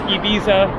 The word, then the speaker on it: Ibiza: Ibiza I'm going with Ibiza which is basically the American pronunciation I will reference the